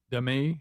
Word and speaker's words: Demi: you know, she says, "Fans have called me Demi." Uh, they've called me Dei. Is it? Nobody said Demi, have they? Yeah. She says, "Remember the way to predict uh to say my name is Dei."